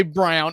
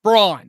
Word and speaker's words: Braun: Don't say Brown. It's Braun. It's Braun.